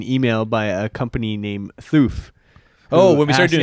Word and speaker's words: Thoof: But then we came around got an email by a company named Thoof. Oh, when we started doing yeah, custom content. What came first, Thoof or Greenlee?